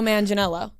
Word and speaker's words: Manganiello: Or no, Joe Manganiello. That's how you pronounce his name.